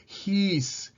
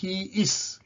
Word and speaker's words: he's: ஹீ என்பதற்குரிய உச்சரிப்பு இந்த ரெண்டு சொல்லையும் சேர்த்தால் ஹீஸ். ஹீஸ் இதுதான் சரியான உச்சரிப்பு. ஹீஸ் ஏற்கனவே நாங்கள் படிச்சாங்க. ஹீஸ், நாட் ஹீ இஸ்.